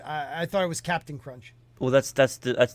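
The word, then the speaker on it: Cap'n Crunch: i thought it was captain crunch well that's that's that's that is the abbreviation of captain so that's still pronounced captain crunch but was it always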